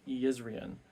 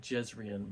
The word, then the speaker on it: Jezrien: led by the king Yan uh not jezrien but apparently in uh in rosarin the J's are pronounced like y's but we see that